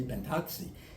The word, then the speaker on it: Pintozzi: changed uh misspellings um I know we pronounced my name ptoi in Italy they would say pentti pentti my